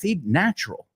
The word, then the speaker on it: natural: Now natural, it's not natural, right? I know in Spanish it's natural. There's another one of those words that uh looks the same but doesn't sound the same.